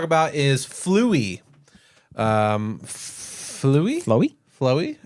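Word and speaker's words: Flói: is fluie um flu flowy flowy f l UI yeah flu flowy flu it's the word flu and then an i how's that become flowy wait spell it f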